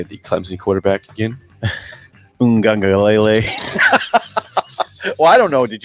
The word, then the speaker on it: Uiagalelei: Uiagalelei. Well, I don't know. Did you pronounce it right?